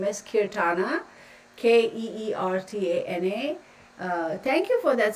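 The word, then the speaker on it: Keertana: can wink wink seeking serenity my name is kirthana let me spell it for you okay okay e e r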